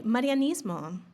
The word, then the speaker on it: Marianismo: How I pronounce that now. Okay. Marianismo. Marianismo. Marianmo. I did pretty good. You did great.